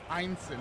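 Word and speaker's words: Ineson: I heard Ralph Einson.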